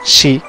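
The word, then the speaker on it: 四: O mejor dicho, la pronunciación Shi, que es 4, significa sangre o muerte.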